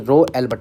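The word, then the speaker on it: ρ: रो इसको बोलते हैं रो आर ओ रो इसको रो बोलते हैं रो ठीक है पढ़ते हैं उच्चारण इसका रो ही करते हैं तो रो इक्व ये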